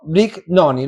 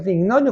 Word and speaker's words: Brignoni: la distancia, de Brignoni. ¿Lo dije bien? ¿Es Brignoni o Brignoni? Depende, digamos, en su idioma original sería Brignoni, pero Brignoni. En argentino es como vos lo has pronunciado.